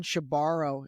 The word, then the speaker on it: Shebaro: making sure I was pronouncing his last name correctly. And he said, yeah, she borrows the money and she never gives it back.